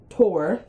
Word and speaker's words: Thor: the fruit of thaw Thor pronounced Tor so his name is tor was picked to the